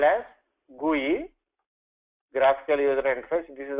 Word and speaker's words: GUI: So business analyst put that in a, this is pronounced as GUI, and business analyst draw this GUI.